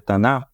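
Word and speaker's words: Tanakh: nós vamos pro tanar que se escreve tanar que mas se pronuncia tanar a Bíblia dos judeus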